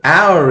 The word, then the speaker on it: hour: The word hour in Shakespeare probably rhymed with more.